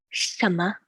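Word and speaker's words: 什么: 什么. The 省 is in the second tone. 么, there's no tone, so it's just the natural 么.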